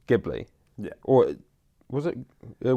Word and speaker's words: Ghibli: But anyway, there's a plane called that, and then it's pronounced the language that it comes from. I can't remember what it was, but it was meant to be pronounced Ghibli, and people think that the name was inspired by that plane.